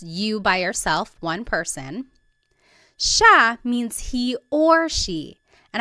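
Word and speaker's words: siya: it should be pronounced CIA but it's actually pronounced Sha Sha there are some regions in the Philippines that might pronounce Ita but for the most part in the central Lon talog speaking areas it's pronounced Sha Sha next Sil is theyo is we inclusive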